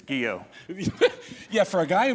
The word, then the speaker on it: Guyot: But It's Guyot.